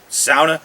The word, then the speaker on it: sauna: sauna house or um what some people call a sauna in finland it's pronounced sauna my family's from finland we've always called it a sauna so adjust that